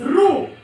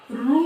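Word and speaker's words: ऋ: इसके बाद रू। अभी कुछ लोग इसे रू कहते हैं, लेकिन इसका उच्चारण क्या होता है, री।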